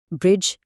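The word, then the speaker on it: bridge: उसका सबसे आम उसूल यह है कि जब डी हर्फ जी से ठीक पहले आता है तो उसकी आवाज नहीं निकाली जाती। ब्रिज, एज और बजट जैसे अल्फाज़ में डी खामोश है क्योंकि यह जी से पहले आ रहा है।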